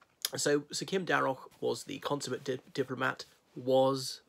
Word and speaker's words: Darroch: ambassador sir Kim Derrick I think I pronounced it correctly Derrick not Daryl anyhow I was proud